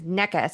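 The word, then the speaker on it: Nečas: We heard it said as Necas, and we're like, that's how you say it. And it's like, well, that's how the player says it.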